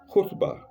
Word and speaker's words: khutbah: Then four, the great sermon, khutbah, khutbah. Khutbah in English is spelled Khutba. There is no sound like that in English. Two consonants combined. K and H combined, making ho, khutbah.